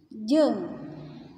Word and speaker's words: jeung: Jeung. Kalau ada huruf e dan u bersatu berdampingan itu dibacanya e. Jeung, bukan jeung, tapi jeung. E dan u disatuin berdampingan dibacanya e.